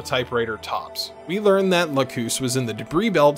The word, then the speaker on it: Lacus: wrong about that also I keep wanting to pronounce her name Lucas so if I do that I'm sorry I'm pretty sure that's a type of potato pancake so sorry Locus in any case Locus starts